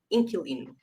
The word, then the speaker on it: inquilino: Yeah, but generally we don't pronounce the U. So it just generally most people saying inkuline ink.